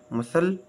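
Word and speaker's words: muscle: climb क्रम डम com silent C सी इज not pronounce the ending skill आखिर पर आने वाले हरूफ स्किल में सी आवाज नहीं देता जैसे मसल silent D डी इज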